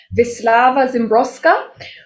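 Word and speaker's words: Wisława Szymborska: poet who i've recently discovered her name is pronounced vislava zimbroska which i did not know before because i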